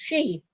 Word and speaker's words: Sidhe: that second new moon ends up being the she moon, which is spelled Sidhe, pronounced she.